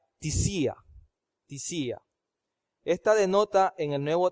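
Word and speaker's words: θυσία: Esta palabra griega que se pronuncia tisía.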